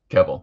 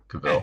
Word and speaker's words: Cavill: That almost looks like Henry Cavill's head. Yeah. And they look very similar. There's some There's some likeness. Kebell. Yep. Kebell. Sorry, Cavill.